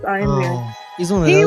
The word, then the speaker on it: Ian Ziering: Oh, and he pronounces it Ian? Ian. It's Ian Ziering.